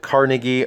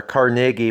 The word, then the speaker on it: Carnegie: We also have these questions with Carnegie or Carnegie. My understanding is Carnegie pronounced it Carnegie, even though most Americans don't pronounce it that way.